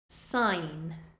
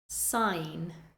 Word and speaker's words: sign: Next, we have a couple of words with a silent G. Sign, sign, foreign, foreign.